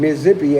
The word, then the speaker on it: Mississippi: Certain parts of Arkansas and Alabama and Mississippi, and Mississippi ain't got no Z's in it, but that's how you say it, okay?